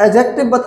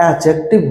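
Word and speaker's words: adjective: रहा है, वो अब एडजेक्टिव हो गया है। क्या हो गया है? एडजेक्टिव। कुछ लोग इसको प्रोनाउंसिएशन एडजेक्टिव करते हैं, ए और जे के बीच का डी नहीं बोला जाता है, एडजेक्टिव बोला जाता है।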